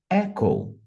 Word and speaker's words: Echo: inglês aeronáutico vai ser echo Echo percebam que em inglês a enfases é na primeira sílaba Então vai ser Echo